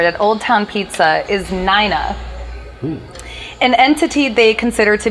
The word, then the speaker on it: Nina: Is it not Nina? How do you spell that name? It's N-I-N-A, but it's pronounced Nina, not Nina.